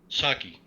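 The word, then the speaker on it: Psaki: name does anybody know sucky okay so the p is a silent p because it's p s a k i does she drink a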